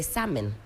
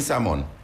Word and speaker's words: salmon: The British will say salmon. You don't pronounce the L. H. You mean salmon?